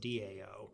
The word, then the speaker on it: Dao: still pronounced down because the T is pronounced as a D okay I don't know